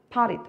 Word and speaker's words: potted: Potted. 아시겠죠? Potted라고 될 수도 있고 T가 중앙에 들어가게 되니까 어떻게 됩니까? 리얼 발음이 나게 됩니다.